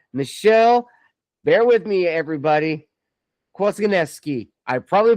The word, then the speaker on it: Kwasniewski: And you actually pronounced it in the Polish way, which is quazyki. So you're right on brand. But if you're American or, you know, you don't speak Polish, it's Quasnuski.